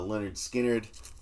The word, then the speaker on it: Lynyrd Skynyrd: And this is the the first one pronounced uh Leonard Skinnard.